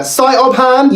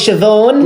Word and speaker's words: Siobhan: Uh, Siobhan? Yo, bro, it's Siobhan. Niamh, huh? It's pronounced Neve.